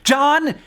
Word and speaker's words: John: see all the vowels it also shows the origin of the silent h because John basically used to be Johan Al for a piece